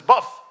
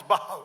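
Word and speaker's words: bough: So then he's reading about the the bow of a tree and he says buff and she says no it's not buff it's bow and so it goes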